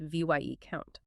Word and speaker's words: viscount: Your brain sees discount with a v, viscount. But it's actually pronounced v y e count. It drops the s entirely in speech because etymologically it evolved from vice count, meaning a deputy or inferior count.